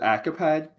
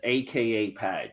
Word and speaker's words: AKAPAD: yeah it's it's accurate people pronounce it acupad okay because they just see it as one word but it's AKA pad so it's it's another